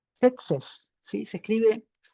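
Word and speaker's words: Tzetzes: Setses. Setes. Sí. Se escribe T Z E T Z E S y es del siglo XI.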